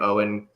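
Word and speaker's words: Eoin: Because you read um it's Owen, right? It's Oh, is that way you actually say his name? Owen.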